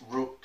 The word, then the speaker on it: Rook: kept saying to me, how do you pronounce the name? Is it Ruck? And they always kept saying Ruck, and I thought, no, it's Rook, and this is how it's pronounced, this is how it's spelled.